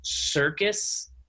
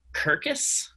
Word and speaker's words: circus: really strong read just one small note you pronounced circus curcus curcus i did what's a kirkus i'm so